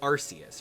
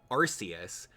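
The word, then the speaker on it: Arceus: it was like uh it was pronounced arus right and then uh the Pokemon company International didn't realize that uh the name arus has the word ARS in it and that can be misconstrued as um it can be misr as like butt popo whatever insert synonym for butt here so they kind of backtrack a little bit and then every time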